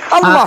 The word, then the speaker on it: Allah: Bacanya? Itu Latinnya. Allah.